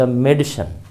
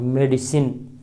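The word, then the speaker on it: medicine: भर की दवा, द मेडिसिन, मेडिसिन हम लोग कहते हैं उच्चारण में मेडिसिन, लेकिन वहाँ आई स्वा है, आई का उच्चारण नहीं है, मेडिसन, मेडिसन, ड स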